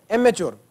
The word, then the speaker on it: amateur: अच्छा एक वर्ड लिखे एमेच्योर, इसको एमेटर भी बोलते हैं और वो depending upon the accent UK यूएस का, तो ये AMATEUR इट can even be pronounced as एमेच्योर और एमेटर भी बोल देते हैं।